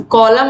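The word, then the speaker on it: column: तो कॉलम आप बोल के देखोगे, कॉलम। तो यहाँ पर आप देखोगे जो एन है ये क्या है? एन का उच्चारण नहीं हो रहा है, तो कॉलम में यन छूट रहा है, तो यहाँ पर यन क्या हो गया? साइलेंट हो गया।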